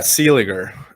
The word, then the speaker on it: Seeliger: you pronounce that uh sealing um yeah it's always a tough one because people usually put an n before the g or you know whatever